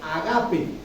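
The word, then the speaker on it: agápē: Se está refiriendo al amor que se traduce como en el griego agape. Agape, como ustedes quieran. Agape, con acento en la agape.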